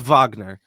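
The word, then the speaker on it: Wagner: Um, France Vagner uh having I think he's German, right? Is he German? If he's not German. Yeah, he's from Berlin. He's German. Okay. Fr. So, it is Vagner.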